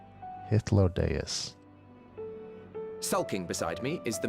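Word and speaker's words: Hythlodaeus: the guy's EMT Suk other dude is hodus that's how you say his name hodus sulking beside me is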